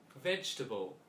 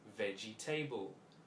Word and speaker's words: vegetable: vegetable vegetable a three syllable word with a neutral sound on the second syllable vegetable vegetable however this is mispronounced as veggie table veggie table vegetable vegetable